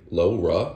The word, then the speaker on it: LoRa: types of communication lower l-o-r-a low raw I believe it's pronounced but this will work